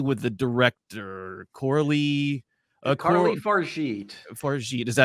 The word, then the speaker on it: Fargeat: Fargeat, is that how you pronounce it?